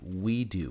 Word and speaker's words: WeiDU: to get something called the we do program it's spelled w-e-i-d-u program now we do is